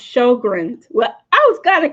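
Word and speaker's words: Sjögren's: Pronounced Sjogren's.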